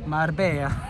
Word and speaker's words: Marbella: So Marbella, am I saying it right? Marbella? Marbella.